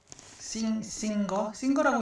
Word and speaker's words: Singer: 자, 싱거라고 읽는 거예요.